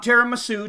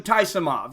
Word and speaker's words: Taisumov: Taisumov in the black. Not tiramisu, Taisumov.